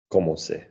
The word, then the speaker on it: commencer: What's the first C on its own? What sound does the first C make? Que. What sound does the second C make? Se. One is hard, one is soft.